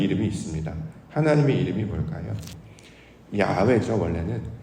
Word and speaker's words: 야훼: 야훼죠, 원래는. 근데 이게 사실은 발음하기 어려워요. 왜냐하면 호흡과 같기 때문에. 야훼 이렇게 호흡 같은 느낌이기 때문에 이걸 발음을 한다는 건 매우 어렵습니다.